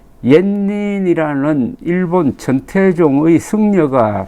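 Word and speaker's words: 円仁: 그 계기가 된 게 이분이 일본의 원인, 일본 발음으로는 옌닌이라는 일본 천태종의 승려가 쓴 여행기 입당구법 순례 행기를 영문으로 번역하고 해설을 책으로 낸 사람입니다.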